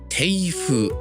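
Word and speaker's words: 庭風: 庭風と読みます。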